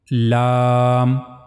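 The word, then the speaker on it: ل: So that's how you have to pronounce lamb lamb.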